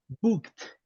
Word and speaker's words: booked: Booked. Booked. Pronunciation T, right? Booked. Listen, Booked. yeah.